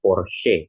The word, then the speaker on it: Porsche: Nah, ini untuk Porsche ini tidak dibaca por ya tapi dibacanya Porsche itu teman-teman ya.